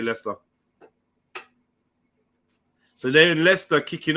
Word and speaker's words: Leicester: They say Leicester. Oh, Leicester. Okay, Leicester. Or Leicestershire or Leicestershire. It depends on how you want to say it. But yeah, most people say Leicester.